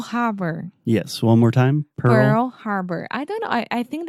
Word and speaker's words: Pearl Harbor: Pearl Harbor. I don't know. I think that I got used to say Pure Bar so much.